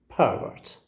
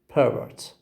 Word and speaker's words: pervert: and we have to have the first syllable as distressed syllable how do i say i say pervert pervert line two it's pervert per word okay ever the verb has got the stress on the second syllable okay of course these